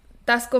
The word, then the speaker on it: Taxco: Christmas time um and Tasco Mexico is a town you Google Google it's spelled tax Co you guys like taxes then Co yeah Tasco Mexico um poetas all